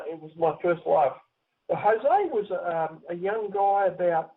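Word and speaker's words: José: J but it's pronounced Jose Jose is Spanish yeah that was one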